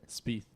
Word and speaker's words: Spieth: Spieth. S-P-I-E-T-H. Yeah, Spieth. That's what it said. And then- My THs I pronounce as PHs.